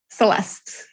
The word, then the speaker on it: Celeste: Did I pronounce that right? Celeste.